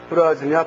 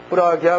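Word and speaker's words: प्रज्ञा: 이제 거기 써 있듯이 프라즈냐 파라미타 흐리다야 수트람입니다. 프라즈냐 파라미타 흐리다야 수트람. 여기에서 이제 진야가 읽을 때 진야를 갖다가 기야 혹은 냐라고 읽는다는 얘기를 했었죠. 그래서 프라기야 파라미타 흐리다야 수트람이라고 읽어도 돼요.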